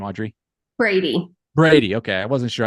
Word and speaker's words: Bready: how do you say your last name Audrey Brady Brady okay I wasn't sure I should have